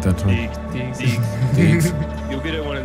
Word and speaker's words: Deegs: It's Deeks. Deeks. Deeks. Deeks. Deeks. Deeks. Like with a G.